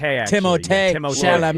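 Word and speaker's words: Timothée: I am the first person to pronounce that T as hard as one could possibly pronounce a T.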